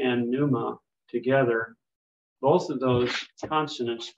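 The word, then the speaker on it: πνεῦμα: the Greek word that has the p and pneuma together both of those consonants are pronounced pneumatic it would say the p and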